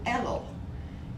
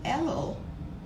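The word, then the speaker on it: Elul: month the previous month is the month of ello and it's spelled in english e l u l and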